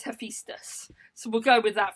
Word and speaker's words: Hephaestus: Okay, I asked my best friend Siri, and Siri says it's Hephaestus.